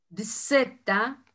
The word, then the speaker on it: zeta: Dzeta, y la pronunciación para nosotros es ds, nada más.